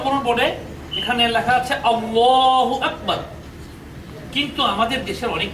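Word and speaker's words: الله: এই দ্বিতীয় লাম সম্পর্কে তো আল্লাহ শব্দের দ্বিতীয় লামের আগে যদি জবর থাকে কিংবা পেশ থাকে তাহলে আল্লাহ শব্দের দ্বিতীয় লামের উচ্চারণটা হবে পোর অর্থাৎ মোটা করে অর্থাৎ এই দ্বিতীয় লামের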